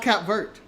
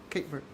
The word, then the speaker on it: Cape Verde: It's actually pronounced Cap Verde, actually. Cape Verde.